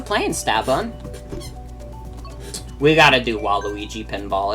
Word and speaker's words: Waluigi: remember one time playing Mario Kart with your younger cousins when you were a kid and they couldn't figure out how to pronounce Waluigi and called him Waldo?